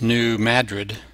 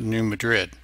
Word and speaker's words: New Madrid: quake on the uh New Madrid fault and it's not new New Madrid like Madrid Spain usually in the US names are not pronounced the same way they are in other countries like the city not